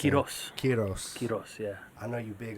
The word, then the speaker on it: Quiroz: was real young marcel carros yeah yeah what's the proper way to say your last quiros yeah i know you